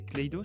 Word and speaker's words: Clayos: Je prononce bien, c'est Clayos ou Cledos ?